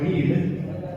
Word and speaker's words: read: पे बी आएगा, और रीड रैड, रैड spelling same होती है भाई, प्रोनाउंसिएशन थोड़ी डिफरेंट हो जाती है बस, रैड बाय मी एंड